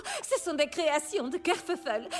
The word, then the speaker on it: Kerfuffle: Ce sont des créations de Kerfuffle. Kerfuffle, c'est moi. Ça s'écrit comme ça se prononce, avec deux f pour le feuf.